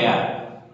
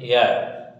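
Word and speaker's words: heir: চুল, হেয়ার মানে উত্তরাধিকারী, আর এটা উচ্চারণটা হবে এয়ার, ঠিক আছে। এইচ ই এ আর, এ এইচ ই আই আর, উচ্চারণটা হবে এয়ার, ওকে, এইচ এর উচ্চারণ হবে না।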